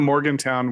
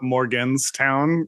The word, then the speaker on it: Morgantown: on the screen because I'll call it Morgan's town you know not Morgan Town yeah um and uh